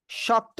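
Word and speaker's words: ش: আর এ অক্ষরে 3 আলিফ টান হবে, শক্ত আওয়াজে উচ্চারণ হবে।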